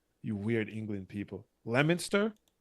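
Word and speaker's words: Leominster: Lemonster is Leo Minster. Leo Minster. That's exactly how it's pronounced.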